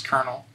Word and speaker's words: colonel: It's because it just borrows directly the French word for like colonel or something like that. It borrows directly from that, and people just kept pronouncing it the way the cognate, which is kernel, and they just merged, and it pisses me off.